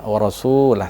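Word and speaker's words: وَرَسُولَهُ: Wa rasulah sini waw rasulah ini mad asli juga atau mad tabi'i yang biasa kita pahami, yang biasa kita pelajari, karena huruf sin berharokat dhammah atau huruf depan, kemudian dia bertemu waw sukun, kemudian kalimat setelahnya itu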